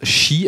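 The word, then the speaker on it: 四: Non, tout simplement parce qu'il se prononce shi, alors S-H-I, tout comme le mot mort en japonais.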